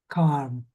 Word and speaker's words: calm: Calm. Yeah. Yeah, that's it. Calm. So, it's almost as if it's spelled like this. Calm.